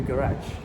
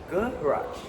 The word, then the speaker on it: garage: The word secretary is said fully and garage is stressed at the back.